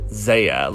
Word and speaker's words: Xia: 2012 song phoenix that it was pronounced xia like you see in the english writing well that's it for